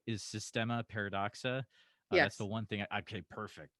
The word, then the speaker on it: Systema Paradoxa: to make sure i'm saying it right is systema paradoxa that's the one thing okay perfect perfect uh